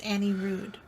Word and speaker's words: Annie Rude: And it's Annie Rude. It's Annie Rude? Annie for Prez. It's Annie Rude. Sorry that we said it wrong.